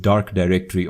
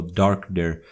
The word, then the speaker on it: DarkDir: be starting off with dark directory or dark there depending on how you want to depending on how you want to pronounce it or call it and as you can